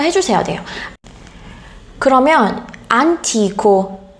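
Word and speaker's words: antico: 그러면 안티코, 이 형용사 옛날의 라는 형용사 안티코는 강세가 이탈리아 단어에서 강세가 어디에 있어요? T에 있어요. 안티코, 안티카.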